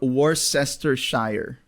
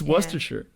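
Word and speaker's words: Worcestershire: yeah even natives uh we hear a lot of worest Shire which wor sester Shire it's werer werer sa was sauce the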